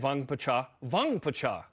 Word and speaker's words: Vangpacha: Okay, last but not least, AJ Vangpacha. That's how you say it.